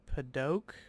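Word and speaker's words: Padauk: The AU is like an O sound. Paddock. Not to be confused with like oak. O-A-K, oak. More like a French version.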